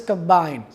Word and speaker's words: combine: Similarly, the word is combine. If I say combine, if the stress is on the first syllable, it will be a noun. If the stress is on the second syllable, the word will be a verb.